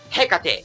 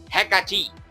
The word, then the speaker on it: Hecate: anime I like Rockets it's Hecate not hekati I'll